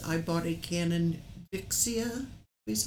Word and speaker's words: Vixia: And Grandma Rose's Homestead says, I bought a Canon Vixia, is how it's pronounced?